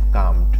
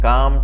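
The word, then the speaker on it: calmed: একটু শান্ত হলো দে কামড ওকে এল এর উচ্চারণটা কিন্তু হবে না ওকে এল এর উচ্চারণটা সাইলেন্ট থাকবে দে কামড এ লিটিল একটু তারা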